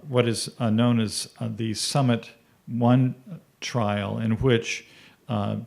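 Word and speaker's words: PSUMMIT: that was done called Summit 2 by the way the p is silent in these uh in the in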